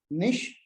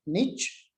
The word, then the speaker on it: niche: And this is pronounced as both niche and niche.